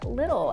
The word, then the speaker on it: Lidl: location and that is the store little l-i-d-l I think that's how you pronounce it I've heard great things